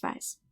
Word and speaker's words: weiß: the German alphabet, but this is called a sharp S, and that's also how it's pronounced. So just an S, okay? Ich weiß.